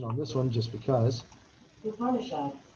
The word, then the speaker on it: Upanishads: I'm going to go ahead and hit the pronunciation on this one just because. Upanishads. Upanishads.